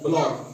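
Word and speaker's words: block: सी silent रहता है जैसे ब एओ सी के ब्लॉक ब सी के ब्लॉक के की ही आवाज निकालनी है सिर्फ के की आवाज सिर्फ आवाज निकालनी है सी को साइलेंट रहने देना है इसको लिखना है लेकिन इसको प्रोनाउंस नहीं करना है ठीक है इसी तरह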